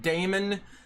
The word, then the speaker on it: Daemons: The dove pronounces it Damon. I think demons with an E and demons with an A is spelled the same or